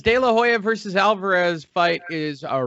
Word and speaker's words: De La Hoya: of fighting former 6th Division world champion Oscar De La Hoya. Yes, I pronounced it correctly just for my amusement.